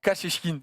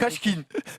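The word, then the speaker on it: Kashechkin: Kachechkin. Ok. Kachkin.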